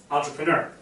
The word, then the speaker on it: entrepreneur: syllables entrepreneurial entrepreneu Entre entrepreneur Entre entrepreneur is the original French a French word the correct expression the